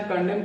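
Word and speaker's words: condemn: आ जाए तो उसमें एन का उच्चारण हम नहीं करते हैं एन का प्रोनंसिएशन नहीं करते हैं एग्जांपल लेते हैं जैसे कि कंडेम कंडेम में क्या है सीओ एन डीई एम एन क्या है यहां पर कंडेम या एम एन लास्ट में आ रहा है एम के बाद एन है हम इस एन का प्रोनाउंस नहीं करेंगे सीधा कंडेम पढ़ेंगे कंडेम मींस होता है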